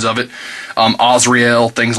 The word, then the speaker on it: Azrael: Now I say Azrael, I hear some different pronunciations of it. Azrael, things like that.